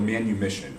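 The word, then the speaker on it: manumission: to die for uh the practice of called manu mission or am i pronouncing that correctly yes uh so uh where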